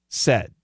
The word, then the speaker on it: says: S-A-Y-S, what's the pronunciation? Said. The vowels are different.